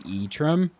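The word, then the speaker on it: Ytram: hear it pronounced, but it's Marty spelled backwards. So Y-T-R-A-M, that's the name of the frogs. An Etrim?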